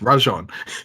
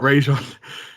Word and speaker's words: Rajon: like in every interview it's rajon it's not rajon but but touching on